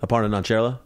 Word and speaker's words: Aparna Nancherla: Aparna Nancherla.